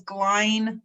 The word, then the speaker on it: Glain: me my name is glenn like shine i love